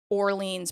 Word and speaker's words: Orleans: from Phoenix exactly right it's not however it is pronounced orleans's Parish that's true because New